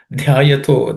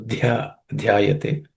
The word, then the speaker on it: ध्यायतो: Dhyayato, the dha is in this compound letter dhya, the dha is aspirated. So dhyayate.